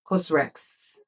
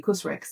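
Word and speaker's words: COSRX: So I got for face wash, I got the Cosrex. Is that how to pronounce it? Yes, Cosrex. There's no E, but so maybe Cosrex.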